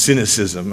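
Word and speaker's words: synoecism: It was originally spelled with S-Y-N-O-E-C-I-S-M, pronounced cynicism, and I decided to put the K back from the Greek to avoid the obvious mispronunciation and misunderstanding of the term.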